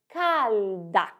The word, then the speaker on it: calda: E cuidado com a pronúncia da letra L. Ela deve ser bem pronunciada. Nós dizemos calda.